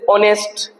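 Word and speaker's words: honest: अपवाद बताए थे जैसे ऑनेस्ट पर्सन ऑनेस्ट पर्सन है ना ओरेबल ऑनरेबल मैन तो ये एच आ रहा है लेकिन यह साइलेंट है।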